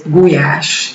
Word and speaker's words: gulyás: But as far as I know, they pronounce it paprika in English. And of course, goulash, which is gulyás in Hungarian, but there is goulash soup, which